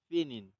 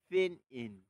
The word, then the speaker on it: pinyin: শুরু করছে এই পদ্ধতিকে ফিনিন, PINYIN, ফিন ইন, ফিনিন বলা হয়।